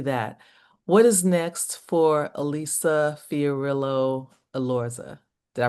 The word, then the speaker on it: Elisa Fiorillo: We're gonna do, let's actually, before we do that, what is next for Elisa Fiorillo Alorza? Did I pronounce it right?